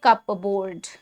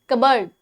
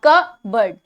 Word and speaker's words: cupboard: That's a wrong pronunciation. Now, what's the correct pronunciation is cupboard, cupboard, cupboard. अब again इसका भी are silent है, ज्यादातर जो आर है ना वो चुप ही रहता है. ठीक है, नाउ कबर्ड, कबर्ड, कबर्ड, कपबोर्ड, नो, कबर्ड, कबर्ड. Clear है? It may have the word cup in it, but the P is generally silent.